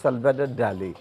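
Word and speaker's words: Dalí: আপনি যেটা বলছিলেন আসলে আপনি ইংরেজিতে পড়েছেন বলে আপনি ওটা বলছিলেন ওটার উচ্চারণ হবে সালভদার ডালি ডালি।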